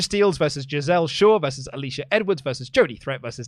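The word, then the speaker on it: Alisha Edwards: company over the weekend just a quick correction on pronunciation it's Alicia Edwards said the reason I need to correct you on that pronunciation is because there is a drag star called Alysa Edwards and so every single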